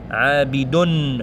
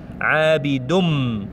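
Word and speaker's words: عَابِدٌ: On ne dit pas Abidun. Vous voyez, on prononce Dun, Nun, Dun. Non, Abidum. On va directement sur mim en fait.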